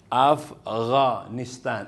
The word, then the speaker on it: Afghanistan: go gu go ganon pero with h magiging gho o kaya gha tulad nito afgha afghanistan afghanistan so sa afghanistan kahit pag nakinig ka sa mga arabo o sa mga afgha pag nag-pronounce siya ng word na Afghanistan ganon talaga sabi niya afghanistan o kaya yung tao Afghani Afgha. So pumasok itong letter na ito sa hard letter o makapal na letter.